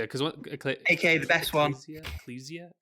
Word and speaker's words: Ecclesia: Order of Ecclesia, I think is how it's Ecclesia. I pronounced, think yeah. that's what I think they said it once in the game. And I was like, Ecclesia. Got to remember that. So I started this one